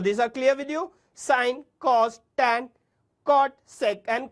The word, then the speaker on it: sine: It's sine written as sin, pronounced as sine.